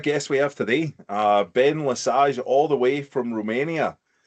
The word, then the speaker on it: LeSage: Love the pronunciation. A lot of people butcher it the first or second times around, so you nailed the French pronunciation there, so appreciate that.